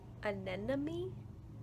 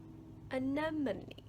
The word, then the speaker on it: anemone: So I just wanted to share that I'm reading this and I realize I've been pronouncing anemone wrong my entire life, because I thought it was anemone, but it's anemone.